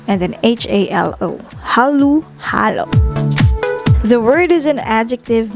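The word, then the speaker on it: halu-halo: the filipino language which prescribes halu halo which is spelled as h-a-l-u instead of o and then h-a-l-o hallu hallo the word is an adjective meaning mixed in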